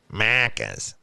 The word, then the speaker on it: Macca's: Why do you say it like that? Because that's how they said it. Macca's.